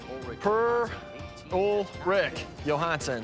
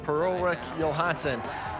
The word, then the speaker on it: Per-Ulrik Johansson: Per-Ulrik Johansson, that's how you say his name. Per-Ulrik Johansson.